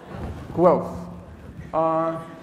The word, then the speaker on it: Guelph: Is it go and wolf? Guelph? Guelph.